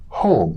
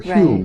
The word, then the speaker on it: Home: You mentioned the famous medium, I think, Daniel Douglas Home, or Hume as it's pronounced, who held seances with royalty all over Europe.